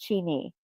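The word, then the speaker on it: çini: Or I'm not sure how to pronounce that correctly. Kini? Cini? Imagine colorful tiles that tell stories and decorate buildings like pieces of art. That's what the Turkish That's what makes Turkish pottery so amazing. In Turkey, oh, chini. It's pronounced chini.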